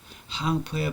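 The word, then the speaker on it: 行布: 항포의 방법은 요때 항이라고 읽습니다.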